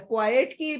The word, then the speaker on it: quiet: accommodation okay and uh quietly pronunciation pronunciation it's quiet not quite okay quiet quiet quiet quiet quiet yes and slow remains still